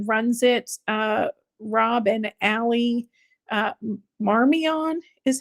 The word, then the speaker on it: Marmion: the couple that runs it, Rob and Allie Marmion is how their name is pronounced.